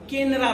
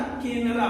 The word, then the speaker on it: केनरा: और K का मतलब होता है हमारा केनरा बैंक। क्या होता है? केनरा। वैसे ये के प्रोनाउंसिएशन में है, ऐसे C से केनरा होता है।